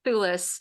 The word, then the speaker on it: Thewlis: Thewlis.